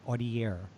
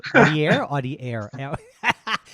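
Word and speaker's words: Audiaire: another journey and created, I hope I'm correct when I pronounce it, Audiare. Is that correct? Yeah. That's absolutely right.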